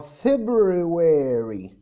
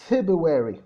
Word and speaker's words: February: في الشهر اللي هو February بالامريكان اكسنت هو February. تمام. في البريتش اكسنت مش بيقولها February، الار الاولانيه ما بنطقهاش، بيقول لك February.